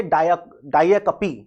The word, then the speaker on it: diacope: है वो होती है डायाकपी। क्या होता है, डायाकपी, DIACOPE। ध्यान रखना प्रोनाउंसिएशन भी ध्यान रखना, डायाकपी क्या होता है प्रोनाउंसिएशन, डायाकपी, ठीक है।